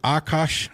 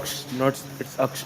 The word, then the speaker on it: Aksh: Is it Akash? If I pronounced that right, you came on, and then Dakota, if you want to chime in, or Dakota. But after It's that, Aksh, not Akash.